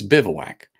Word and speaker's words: bivouac: for this but it's bivouac as in you know like what you would do you bivouac for the night yeah it is and